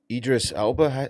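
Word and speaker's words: Idris Elba: Uh Idris Alba.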